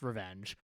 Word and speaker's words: RVNG: That's RVNG International, which I did not know until like earlier this year is pronounced Revenge.